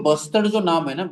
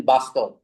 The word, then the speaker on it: bustard: There could have been possibility of misspelling it and mispronouncing that you know the what you can say the name great Indian buster. People could have pronounced it as a great Indian bastard.